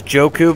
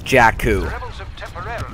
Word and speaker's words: Jakku: I thought it was Joku, but it's the official pronunciation, of course, if you saw episode 7, is Jakku.